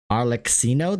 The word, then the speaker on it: Arlecchino: Yeah, because like when you say cappuccino is spelled with two C's, right?